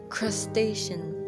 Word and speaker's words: crustacean: of the mistakes was crustacean. This word right here, it is not crustacean, it's crustacean.